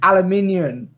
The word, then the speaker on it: aluminium: It's like you say aluminum. It's aluminium. What?